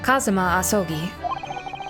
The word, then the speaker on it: Kazuma Asogi: It's pronounced Kazuma Asogi.